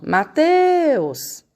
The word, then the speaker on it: Mateus: Não é assim, ó, Mateus. Descobriram qual é a sílaba mais forte? Então, é o teus, porque é a sílaba que a gente demora mais quando a gente chama.